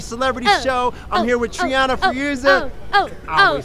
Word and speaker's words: Trianna Feruza: I'm here with Trianna Feruza. I always say it wrong. Trianna Feruza.